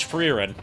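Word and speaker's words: Frieren: Yeah, it's it's spelled like it's spelled like, you know, old English or it's spelled like old English or Dutch.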